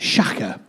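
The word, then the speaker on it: שָׁחָה: It's pronounced shaka.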